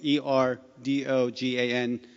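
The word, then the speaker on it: Erdoğan: You don't say Erdogan because it has a letter that's known as silent G in Turkish. It has an accent mark over it. That's the G in the middle. So it's E-R-D-O-G, silent G-A-N.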